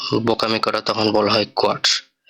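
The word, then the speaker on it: Quatsch: করা, তখন বলা হয় কোয়ার্টস। এটার উচ্চারণটা হবে কু উ আ টে এস সে হা, কোয়ার্টস অর্থাৎ ননসেন্স বা বোকামি।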